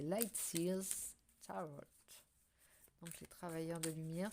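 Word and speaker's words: Lightseers: va tomber avec le lightsia tarot que l'on ne je le prononce mal depuis le début en fait c'est light Sears donc j'ai travaillé de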